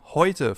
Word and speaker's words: heute: And last but not least, we have Oi, a combination of the German E and the German U, so E and U in English. E plus U ergibt Oi, as in heute, for example, today, heute, or Leute, guys, Leute.